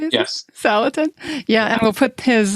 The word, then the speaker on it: Salatin: Salatin.